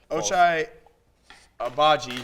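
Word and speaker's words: Ochai Agbaji: been the overall seed instead of gonzaga but ochai obagi yeah that's how you say his name and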